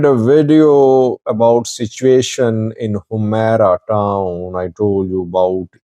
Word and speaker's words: Humera: In the last video, I requested you to guide me about the pronunciation of Humera. And people said it's not Himra, it's Humera.